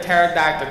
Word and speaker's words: pterodactyl: couldn't you hear the pterodactyl go to the bathroom oh yeah cuz you can't hear the P yeah cuz you no cuz the p is silent yeah it's a good